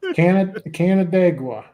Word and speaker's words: Canandaigua: Is it Canandaigua? Canada? What? Yeah, Canandaigua. Yeah. Canandaigua.